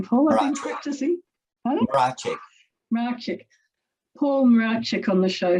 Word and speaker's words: Mracek: Mracek.